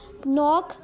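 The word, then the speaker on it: knock: नॉक, के is silent.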